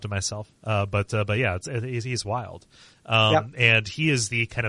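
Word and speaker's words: Wyald: I was like, okay, how are we going to pronounce his name? I was like, oh, it's Wild. Literally, that's just how it's said. I was, like, saying Weald or whatever.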